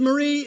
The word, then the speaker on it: Mari: Lisa Marie Simeon with distinction. Taylor Aja Claret Sue with distinction. Mari with distinction. She asked me to pronounce it like calamari, and I almost said calamari.